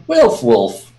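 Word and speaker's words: Waelfwulf: Wolfwolf. It's spelled W A E L F W U LF.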